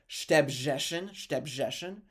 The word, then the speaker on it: Szczebrzeszyn: It looks crazy because there's no vowels, but the name of the town is pronounced Szczebrzeszyn, which is a little bit further south in the Congress, Poland.